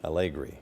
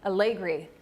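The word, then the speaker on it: Allegre: One of our viewers is saying it's pronounced Allegri? Allegri. Allegri. Thank you.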